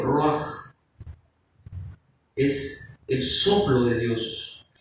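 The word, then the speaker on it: רוּחַ: O ruach, así se pronuncia en el hebreo, ruach.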